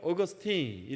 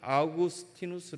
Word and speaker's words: 아우구스티누스: 선생님은 오셨습니다 그리고 난데 저희들은 습관대로 어거스 te 라고 발음 햇더니 아주 혼을 내셨습니다 너 이름으로 너 이름을 일본식으로 바꾼다면 기분 좋겠냐 너 이름을 갖고 중국 식으로 발음하면 좋겠냐 그 나라에서 그 동네에서 자기 이름을 불러주는 대로 부르는 것이 가장 합당할 것이다 그래서 우리는 아우구스티누스 라고 그렇게 발음한다 그래서 매번 훈련을 받고